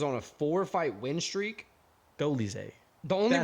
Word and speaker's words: Dolidze: Dolidze.